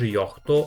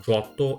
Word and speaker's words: Johto: You have an interesting mistake here: it's not pronounced "Yohto" but rather "jotto" even "Giotto"(initial sound J makes in juice) with the first "o" elongated.